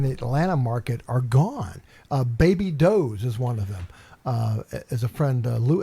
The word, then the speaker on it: Baby Doe's: and she goes, "Oh, Baby Does." And then my sister and I cracked up. We go, "No, it's Baby Doe's."